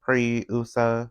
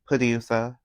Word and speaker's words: Puriusa: And Pitiusa is the same way where it's like Pri-usa, since it's supposed to be like Pri and then Usagi as in bunny. So together it's like Puriusa or Puriusa, basically.